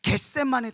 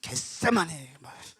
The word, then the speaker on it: 겟세마네: 그래서 예수님께서 그 기도의 모본을 보이신 것이 어디였냐면 겟세마네 동산. 겟세마네 동산. 이게 너무 세게 발음하면 안 됩니다. 약간 욕같이 들려요. 이런 겟세마네.